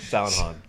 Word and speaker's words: Hahn: Hahn. H-A-H-N. Alan Hahn. Sound Han. Han? Yeah. Han? Yeah. Hahn.